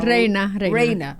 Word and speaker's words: Reina: Se pronuncia así, Raena. Reina, reina. como rey.